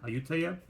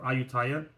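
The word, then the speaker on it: Ayutthaya: Bangkok it's called auta I think it's pronounced auta or aaya and yeah it's it's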